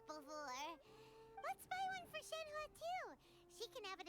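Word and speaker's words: Shenhe: It's Shenha. How the did they Okay. Again, name pronuncations sometimes are inconsistent.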